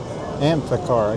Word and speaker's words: Amphicar: Amphicar. I guess that's how you say it. P H is like an F.